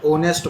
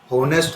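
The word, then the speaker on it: honest: ऑनेस्ट एच दे रखा है लेकिन एच साइलेंट है। ऑनेस्ट बोला जाएगा। होनेस्ट नहीं है।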